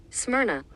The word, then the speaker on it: Smyrna: Unlike most other churches, Philadelphia and Smyrna, let me actually get that pronunciation correct right now. Salaki family, we want to get that correct right now. Smyrna.